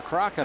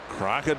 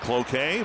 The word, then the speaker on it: Cloquet: Crockett, Minnesota. Some people pronounce it Cloquet, but last night it was Crockett.